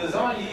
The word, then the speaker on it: lasagna: It's like, when you eat lasagna, you don't be talking. And the G in lasagna is silent.